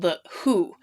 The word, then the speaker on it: The Hu: of mongolia quite recently called the who which is spelled hu and they're amazing for